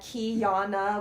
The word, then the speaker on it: Kyanna: quietly stop me at kyana which is the pronunciation of my first name so I'll put it